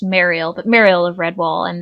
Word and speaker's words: Mariel: I pronounce it Merrill, even though I think it's pronounced Mariel, but Mariel of Redwall,